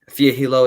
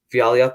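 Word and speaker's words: Fialho: So Fiaglio is how you pronounce it, if I'm not wrong. Fiaglio, yeah.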